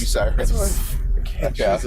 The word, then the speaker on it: Bucyrus: it's called Bucky Russ. That's how you pronounce it? No, it's Bucyrus. Bucyrus.